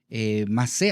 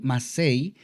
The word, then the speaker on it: Masei: Masé, algunos dicen Masei, y esto es porque la palabra se escribe con las letras Mem, Samech, Ain y termina con Yud. Sin embargo, me parece que hay una regla gramatical, no estoy muy seguro, pero me parece que hay una regla gramatical que cuando la Yud está estructurada de esta manera, no se pronuncia y es por eso que solo se conoce como Masé.